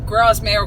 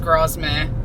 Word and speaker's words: Grasmere: wasn't with the crossman it was grasmere grasmere i think it's pronounced grasmere uh and mike finally